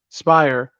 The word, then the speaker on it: Speyrer: I keep mispronouncing it. Spire.